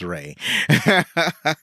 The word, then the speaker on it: Ralph: It's like I see his name is spelled Ralph, but it's pronounced Ray. So, Ray Fiennes is, I've always liked him.